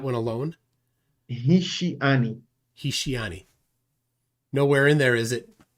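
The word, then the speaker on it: השיאני: in the Hebrew Bible, it's pronounced Hishiani, which means he beguiled me.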